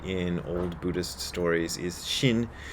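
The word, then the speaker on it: 心: It's pronounced the same in Japanese and Chinese, but they spell it with an X when they're talking about Chinese, and they spell it with an SH like sensible people when they're talking about the Japanese pronunciation, but both comes out Shin.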